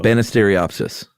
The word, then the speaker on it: Banisteriopsis: Yeah, but if it's pronounced like it looks. Yeah, though. Banisteriopsis.